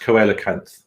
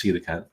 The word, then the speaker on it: coelacanth: Sea creatures, and I thought it was pronounced coelacanth, but it's not. It's actually pronounced coelacanth.